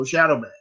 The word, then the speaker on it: Shadoweman: So it's spelled with an E. SHADOWE, eternal, and man. So Shadoweman.